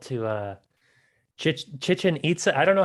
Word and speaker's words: Chichen Itza: I don't know how to pronounce it. Chichen Itza. Chichen Itza, or, or as a friend of mine calls it, Chicken Itza. Right. I didn't want to call it that. I had that thought. I'm like, it's not chicken.